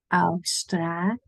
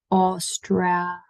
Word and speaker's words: Australië: Austra, make it long. Australië. Australië. Pamper that really in there because it is a very common mistake to misread and mispronounce. They go like Australia. That's not how we say Australia. So a long A and je at the end.